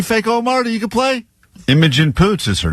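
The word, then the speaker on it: Imogen Poots: You could play Image and Poots is her name. Oh, no. You got it right. No, no, no, no. I would play this. Emojent Poots. That's what I would play. The correct pronunciation.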